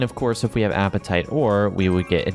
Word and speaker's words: apatite: being added here is apatite, which is apatite, not spelled like the one you have right now in your stomach, but apatite in real life is actually a pretty cool rock, and they often show